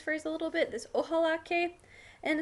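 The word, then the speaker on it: ojalá: a little bit this ohal and it's kind of like this God willing um I hope idea so it's always going to use the word ohala with an accent on the second a so I hope that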